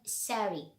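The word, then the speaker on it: Sehri: So the Adhan is heard after the so-called Sari. Sari, I think this is how the Arab people pronounce it, Sari.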